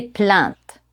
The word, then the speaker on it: plainte: Au passé composé, n'oubliez pas d'utiliser l'auxiliaire être et de prononcer la marque du féminin. Il s'est plaint, elle s'est plainte.